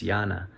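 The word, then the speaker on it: jnana: I guess if you if I'm pronouncing it right it's Yana um it's spelled j-n-a-n-a the the advisor idea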